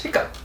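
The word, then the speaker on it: hiccough: off as in cough in one case at least it's pronounced up and that's actually a word that's related to cough it's hiccup the british again spell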